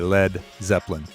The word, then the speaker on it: Led Zeppelin: And then they actually spelled it LED so that it wouldn't be pronounced lead, because LEAD could be... That's smart. Yeah. So you definitely had to say Led Zeppelin.